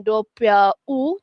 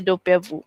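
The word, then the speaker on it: doppia vu: Dia bukan dopia u tapi dia dopia vu okey double vis.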